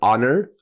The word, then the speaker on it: honor: Remember, honor, the H is silent.